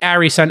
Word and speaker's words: Arison: the big prize welcome to the pod harrison and i'm pronouncing correct it's harry son a-r-i-s-o-n correct that's correct and thanks for having